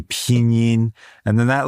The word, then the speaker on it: pinyin: And so like the letter I, like in pinyin, like it's not pinyin, right? If you pronounce it the English way, you're pronouncing it wrong. You have to say pinyin.